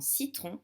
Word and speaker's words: citron: Le C dans citron se prononce S.